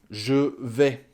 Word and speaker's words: je vais: On prononce je, donc sans le E, hein, ça fait j. Et on ajoute un V après.